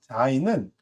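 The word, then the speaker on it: זין: 자인은 또 요 네모난 글자 크기의 반을 쓰는데 위에 있는 바브와 모양이 비슷하지만 조금 다른 것은요. 바브는 연결해서 내려온다면 자인은 끊깁니다.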